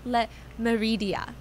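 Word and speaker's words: Le Méridien: it's called a hotel Le Meridia I'm trying to pronounce it in the French way and uh both club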